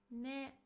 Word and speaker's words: ね: Ne. Just as yo, it's also put at the end of the sentence. It's pronounced as ne.